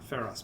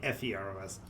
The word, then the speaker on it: Pharos: Because it's not spelled like that. It's spelled more like King of the Egyptians. Pharos. Pharos. Pharos. Not Feros.